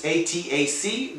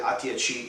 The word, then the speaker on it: ATAC: It's ATAC. They call it ATAC in Italian pronunciation.